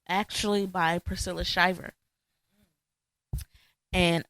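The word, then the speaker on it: Shirer: it's actually by Priscilla Shyer and I think I'm pronouncing her last name right Sher ain't it okay sh okay Sher I apologize Priscilla Sher and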